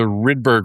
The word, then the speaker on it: Rydberg: So, the the Rydberg or Rideberg, I've heard it pronounced two different ways, I don't know. Rydberg, okay.